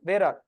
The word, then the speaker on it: vararg: Wherever you see 3 dots, you have to pronounce it as vararg.